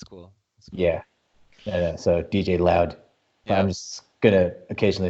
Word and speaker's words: DJLaoD: live live okay so we're now live other DJ laude and jy for the lulz and I just found out that it's actually pronounced DJ loud my correct really you're going for some clever